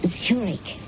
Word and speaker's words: Zurich: That's pronounced Zurich, as in the Swiss city.